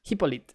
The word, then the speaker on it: Hippolyte: Hippolyte is pronounced right? It's Hippolyte. Hippolyte. Okay, because French.